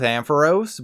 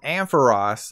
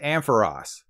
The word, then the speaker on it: Ampharos: I personally go with Ampharos but the Pokemon company wants you to call it Ampharos like Ross from friends I checked the etymology